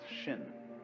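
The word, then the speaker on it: 心: In Chinese, mind is um This word pronounced shin and shin is here.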